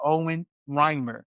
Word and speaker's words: Owen Reimer: Owen Reimer. Yeah. Mr. Owen, how did I do? You got it. Good? That's the right pronunciation.